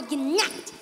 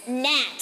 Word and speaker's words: gnat: You know, we both work for the king, but compared to me, you are a ginat. The G is silent. It's gnat.